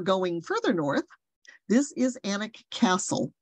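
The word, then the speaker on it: Alnwick: further north this is anak Castle I know it's spelled a-l-n-w-i-c-k but it really is anik um and this is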